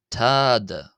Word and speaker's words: ⲑⲏⲧⲁ: But uh it is pronounced as a hard sort of t. So we have tad tad uh tad tad tad tad and it's transliterated as a th.